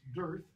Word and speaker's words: Darth: Darth Vader is from, Darth is from Old and Middle English. It's not used much. It's pronounced Dearth, actually.